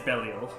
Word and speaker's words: Belial: So the Latin pronunciation pronunciation is Belial.